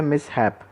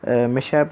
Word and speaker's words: mishap: अगला वर्ड है मिसहैप। इसका प्रोनाउंसिएशन इसका मिसहैप है, मिसहैप मत बोल दीजिएगा। इसका प्रोनाउंसिएशन है मिसहैप।